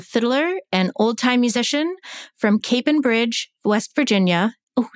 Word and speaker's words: Capon Bridge: Dakota Karper is a fiddler and old-time musician from Capon Bridge, West Virginia. Oh, did I say it right? Yes. Capon Bridge. That is correct.